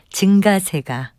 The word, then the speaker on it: 증가세: 이와 비슷한 예로 어떤 현상이 점점 늘어나는 흐름이나 경향을 나타낼 때 증가세로 발음하는 분도 있는데요. 이 경우에도 역시 예사소리로 발음하는 증가세가 맞는 발음입니다.